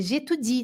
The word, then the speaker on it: j'étudie: Atenção, eu estudo, é j'étudie, tá vendo esse i aqui? Ele é forte, tá?